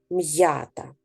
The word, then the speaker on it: м'ята: давайте з вами зробимо звукобуквений аналіз до слова м'ята м'я та м'ята вимовте перший склад склад м'я із яких звуків